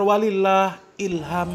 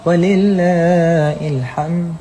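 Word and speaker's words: ولله الحمد: Bacanya apa coba? Katanya Allahu Akbar walillahilham. Allahu Akbar Allahu Akbar Allahu Akbar lailahaillallah. Wallahu akbar Allahu Akbar Walillahilhamd. Coba kaum muslimin ya. Takbiran saja salah kaum muslimin.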